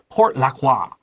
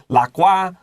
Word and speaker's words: Port Lockroy: They might use the French pronunciation, 发文, the 发音. They might say Port Lockroy.